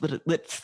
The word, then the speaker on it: Litt: Yeah, you have to pronounce both T's. It's Litt, but it's with a hard. It's a double T.